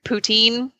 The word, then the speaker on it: poutine: I don't know if I say it right poutine yeah that's how you say it yeah I never know but the pooch in was by far my favorite thing there and